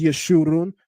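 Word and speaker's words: יְשֻׁרוּן: and it makes an oo sound. In the Masoretic text, they place the kibbutz vowel marker underneath this letter so that we would know how to interpret this properly, to not only pronounce it as Yeshurun, but that it would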